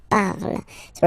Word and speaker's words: parles: Then for tu, you will have to put es, okay, phonetically tu parles. So you've got the two first forms, you pronounce them the same way. You write them differently, of course, because you get here, and then you've got and s, okay, but then phonetically they are the same.